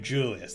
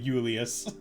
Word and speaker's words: Julius: It is a J. It is Julius. There we go. It's not Julius.